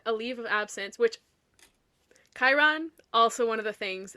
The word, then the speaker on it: Chiron: Brunner tells Percy his name is actually Chiron, and he took a leave of absence, which Chiron, also one of the things that I mispronounced as a child.